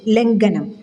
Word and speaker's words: ലംഘനം: ലംഘനം, സംഘട്ടനം എന്നീ പദങ്ങൾ ഉച്ചരിക്കുമ്പോൾ ലംഘനം, സംഘട്ടനം എന്നിങ്ങനെ ഖയുടെ ഉച്ചാരണം ഗ എന്ന അക്ഷരത്തിൻ്റെ ഉച്ചാരണത്തിലേക്ക് പോകാതെയും ഇരിക്കണം.